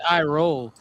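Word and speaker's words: Iroh: I R O H. So roll I roll.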